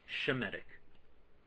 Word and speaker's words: Semitic: That's anti-Semitic, because it was originally pronounced as it should be, Shemitic. Shemitic. But it lost the SH sound and it just became an S sound, Semitic.